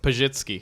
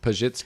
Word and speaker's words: Pitz: Christina P CHR yes how do you say it pitz pitz so then I open for